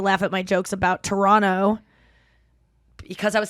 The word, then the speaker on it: Toronto: wrong and I go is it Toronto or Toronto and they're like Toronto and I'm like wait a second clap if it's a hard tea and they're like dead